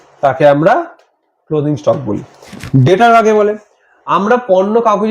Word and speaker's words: debtor: ঠিক আছে, এখানে ডেটার বানানটা হচ্ছে DEBTOR, শুনতে ডেপ্টর লাগে কিন্তু বিটা উজ্জ থাকে, ডেটার।